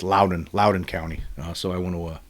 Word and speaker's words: Loudoun: This was from the Loudoun Times-Mirror.